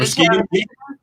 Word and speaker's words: Muskegon: Is that Muskegon?